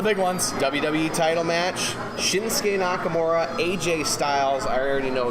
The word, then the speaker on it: Shinsuke Nakamura: Shinsuke Nakamura.